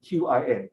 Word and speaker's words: Qin: ascends the throne of the Qin kingdom, Qin, all right, not Qing, all right, it's Qin, okay, all right, just in case you're wondering how it's pronounced, Q in Hanyu pinyin